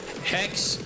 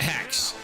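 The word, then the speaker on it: Haxe: h a x e it's pronounced hex but some people call it hacks yeah look it up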